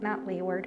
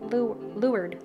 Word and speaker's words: leeward: are windward versus leeward not leeward lured lord it's spelled completely differently than it's pronounced just to make our